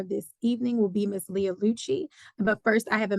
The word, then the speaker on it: Leah Lucci: I just wanted for make sure I'm pronouncing your name correctly. Is it Leah Lucci?